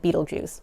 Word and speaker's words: Betelgeuse: is the star of beetlejuice or betelgeuse i like to pronounce it beetlejuice don't say it three